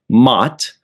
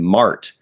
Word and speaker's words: Mott: It is pronounced Mott. I know when I first started watching Star Trek way back in the day, I thought his name might have been Mart, but that Picard just pronounced it Mott because of his accent. I was like, so is it really Mott, or is he just pronouncing Mart incorrectly?